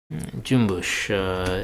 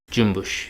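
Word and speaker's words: cümbüş: Jumbush, it's got the Turkish diacriticals. Jumbush, the C is pronounced like a J, and then the S with the mark underneath it, that's SH sound, jumbush. So jumbush, the cool thing about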